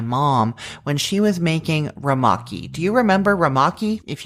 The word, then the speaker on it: Rumaki: ago from my mom when she was making ramaki. Do you remember ramaki? If you don't know what I'm talking about, it is spelled Rumaki, and it seems to have originated